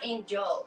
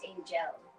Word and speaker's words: Angel: It's not Angel, it's Angel. Angel. Angel. Okay. Everyone says Angel. I do. Okay, I'll correct that. Ange hair gel. Angel. No, I'm just kidding. I don't know how you're supposed to say it, but it's spelled Angel.